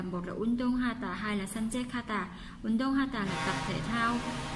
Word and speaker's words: 산책하다: 산책하다 chỗ này chúng ta sẽ đọc là 카다 các bạn nhé. 산책하다 nối kia với là hiểu biến thành 카다.